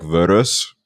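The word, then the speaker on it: Võros: We just pronounce it as like an So is it is it pronounced like verus? Like something like that? The S is a sh sound. So it's ver.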